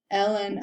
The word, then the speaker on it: ln: write it out as ln of 6 plus ln, and that's how you say it. Instead of saying the whole thing, natural log of 6, we say ln of 6, and plus ln of e to the 5t.